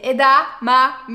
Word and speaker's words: edamame: Sinon on a aussi les edamame. Déjà, est-ce que vous savez prononcer ça, hein? C'est edamame, il y a deux fois le M.